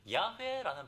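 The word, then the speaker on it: 야훼: 여호와라는 말은 사실 야회라는 발음이 더 정확한 발음입니다.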